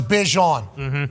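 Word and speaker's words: Bijan: So it's Bjon but he just gave up telling people I assume. Well, he's kind of the one who's kind of saying like, "Listen, mom, I don't give a if you name me Bjon." I like saying Bejon.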